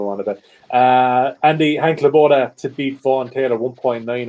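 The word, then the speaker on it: Lebioda: I just keep saying it fast. Leboida. It's Leboida. That's 100%. Leboida.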